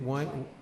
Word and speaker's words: Weingant: Vigant. Weingant, right? I Vigant. move we approve, Weingant? Vigant. Vigant? Vigant. German name. Amy W is V.